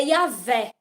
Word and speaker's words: Yahvé: Então, o verdadeiro Deus é Yahvé, porque o nome dele é impronunciável. Então, a pronúncia mais perto do nome dele é Yahvé.